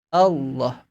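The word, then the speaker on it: الله: Huruf lam tebal satu-satunya hanya muncul dalam pengucapan lafaz Allah. Allah itu adalah lam tebal.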